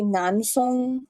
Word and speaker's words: Nan Feng: it's supposed to be Nan Feng and Fu Yao, but the video did not do that bad of a job. It's not supposed to be Nan, it's Nan, but close enough. And again, if I were